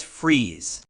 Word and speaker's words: frieze: freeze is a noun it's pronounced as freeze meaning a freeze is